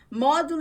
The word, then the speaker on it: Modolo: você também, todo esse processo é possível e é módulo, sem acento Módulo, mesmo. né? Então, Exatamente. como é que fala? A A pronúncia. pronúncia correta é módulo.